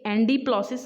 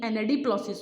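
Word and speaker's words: anadiplosis: Assonance, alliteration, ये एंडीप्लॉसिस नहीं, एनेडीप्लॉसिस होता है गाइस, ये थोड़ा सा मुझे इनकरेक्ट लग रहा है।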